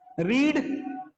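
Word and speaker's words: read: ये बेटा रेड हो जाएगा, ठीक है।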